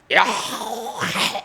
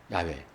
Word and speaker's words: 야훼: 그래서 우리의 발음은 여호와지만은 원래는 야훼 이런 식의 발음하는 것입니다. 야훼.